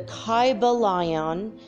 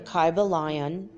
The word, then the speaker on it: Kybalion: go the name of the book is the kaiba lion i'm going to spell that for you it's k-y-b-a-l-i-o-n the kaiba lion and one word and it is a study